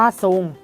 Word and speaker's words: ทรง: นะ คะ ก็ คือ ออก เสียง ตัว ท. ทหาร และ เรือ นะ คะ เป็น เสียง ซอ โซ่ นะ คะ เช่น คำ ว่า ทรง อ่าน ว่า ทรง แต่ เวลา เขียน นะ